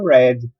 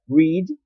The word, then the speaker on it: read: Já o passado dele, a escrita é a mesma, mas a pronúncia é read. Read, read, ok?